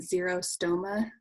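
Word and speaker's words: xerostomia: like dry mouth and she might call it that zero stoma so it's spelled with the x and what we would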